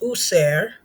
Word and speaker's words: Auser: Auser, which is pronounced User, is the all-seer of ancient Egyptian spiritual science, refers to our connection to the divine mind of God.